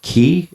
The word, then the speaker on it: Cay: like I was like is it like clay or is it cay? Just because of the spelling. It's c a y, right? Right. And you had earlier alluded to the fact that um in over there they call it key.